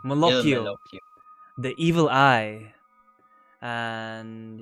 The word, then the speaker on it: Malocchio: Malocchio, Il Malocchio, Malocchio.